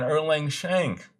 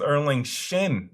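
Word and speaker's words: Erlang Shen: I think about it got his damn name wrong I was saying erlang shank he is erling shin the man the myth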